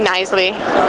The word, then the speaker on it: Knisley: comom my name will also work which is uh Lucy nisle uh it's got a silent k uh and then I'll